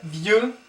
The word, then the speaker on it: vieux: Le premier, vieux, vieux, vieux. Don't pronounce the X here, vieux.